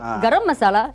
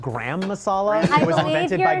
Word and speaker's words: garam masala: Garam masala? You're speaking my language here. Yes. And I thought it's such a great spice for things like that. I believe it's pronounced gram masala. Indian. It's garam masala.